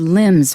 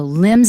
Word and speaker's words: limbs: All right, for the word limbs, watch out first of all, don't pronounce the B.